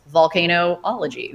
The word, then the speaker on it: volcanology: and that's surely because in Italy and other places in Europe they spell it Vulcan vul CA n volcanologist but in here in America and most other places in the world it's vol so it's volcano ology volcano science and so really what